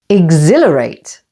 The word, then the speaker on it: exhilarate: the third syllable exhibition and Exhilarate with the main stress on the second syllable Exhilarate there is one exception